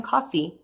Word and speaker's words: Coffey: John Coffey, he said in a thick and tear-clotted voice. Coffee like the drink, only not spelled the same way.